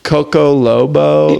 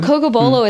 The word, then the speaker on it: Cocobolo: Cocobolo, yeah. It's taken me like years to say it right. Cause I'm like hard. Coco Lobo, like it just and always also the blends together.